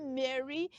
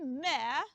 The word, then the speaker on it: Mary: Don't say Mary. Don't say Mary. Say Mary. Mary.